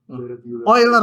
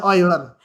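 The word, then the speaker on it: Euler: bilangan eular gitu ya oiler Bacanya oiler jangan salah baca karena orangnya sudah meninggal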